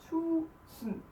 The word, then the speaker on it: tusind: So here we wrote tusind, but we don't say d, and the I is just, we skip it lightly. So it becomes tusind.